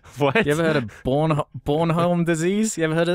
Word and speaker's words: Bornholm: B-O-R-N, like baby being born. Born. Then H-O-L-M. Bornholm. Bornholm.